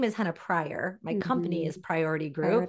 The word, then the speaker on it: Henna Pryor: My name is Henna Pryor.